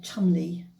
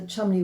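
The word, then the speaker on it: Cholmondeley: Uh we got to somebody called Chumley. It's pronounced Chumley, but it's spelled very differently.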